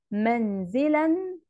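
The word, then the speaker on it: منزلًا: يبقى انا ساعة ما هقرأ الكلمة دي هقول منزلا منزلا، هنا ده تنوين، بس انا نطقتها بالشكل ده، بس مش هكتبها كده، مش هكتبها بالنون كده. امال هكتبها ازاي؟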